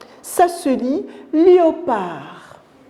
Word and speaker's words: léopard: vous entendez la lettre des noms meti on prononce pas la lettre d ça se dit léopard à notre exemple le canard regardez à l'écrit